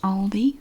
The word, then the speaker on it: Aldi: Aldi or whatever in the USA it is pronounced Aldi I did confirm that with Al the USA